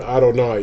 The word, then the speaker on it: Adonai: we pronounce y hey we pronounce it as the word Adonai even though that's not how to spell it at all this just the way